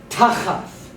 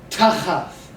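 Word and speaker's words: תַּחַת: So, hard tau, pethak, cheth, pethak, tau, would be tachath, tachath, which is under or beneath.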